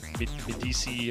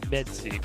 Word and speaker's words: Metzi: It's just the way they pronounce it. Yeah. I've heard Medici and all that stuff, but the guys always tell me it's Metzi.